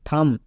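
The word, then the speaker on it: thumb: গেল তাহলে কি দাঁড়ালো টি এইচ ইউ এম থাম তাহলে এখান থেকে আমরা কি শিখলাম যে ইংরেজি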